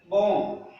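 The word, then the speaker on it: bomb: यदि किसी अंग्रेजी शब्द के अंत में एमबी या बीटी हो तो वी साइलेंट रहता है। क्या साइलेंट रहेगा? वी साइलेंट रहेगा।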